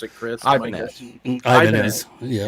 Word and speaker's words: Ibanez: Is it Ibanez or Ibanez, or how do you pronounce it, Chris? Ibanez.